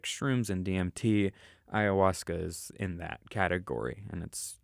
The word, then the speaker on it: ayahuasca: last couple off seasons is that you pronounce it i think so ayahuasca i thought it was akka or like i think it's ayahuasca which if you don't